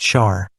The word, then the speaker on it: Sar: One orbit around our sun is called a SAR pronounced char like in shei by its inhabitants.